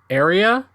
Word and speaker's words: Aerea: The first one that I want to talk about is a game called Area, which is spelled Aerea, a palindrome.